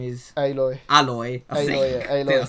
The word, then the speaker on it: Aloy: Aloy. It says Aloy. Aloy. Yeah. That's how it's pronounced.